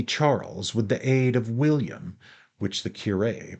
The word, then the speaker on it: William: Finally, he defeated the unlucky Charles with the aid of William, which the curé pronounced Willem, the Conqueror, which is why so many English still come to visit the place.